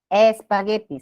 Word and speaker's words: espagueti: Spaghetti. No podemos pronunciar así, ¿no? Espagueti, se le agrega la E, pero no se pone tilde, ¿por qué? Porque es una grave que termina en vocal.